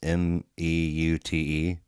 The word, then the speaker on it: Meute: Have you heard, I've never been 100% sure how to pronounce this, but Moita or Mute, it's Meute.